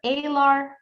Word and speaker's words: alar: This is called your alar cartilage, which sounds like the word wing in Spanish, alas.